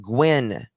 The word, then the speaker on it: Nguyen: Ben Gwyn. I always want to say Ben Nye. It's Nguyen, but it's pronounced Gwen, not Ben Nye, the science guy.